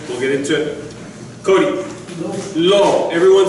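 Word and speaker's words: לא: Aleph is silent. So you have lo.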